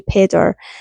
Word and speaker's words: Pedr: Pedder, it's spelled Pedr, so I'm going to say Pedder.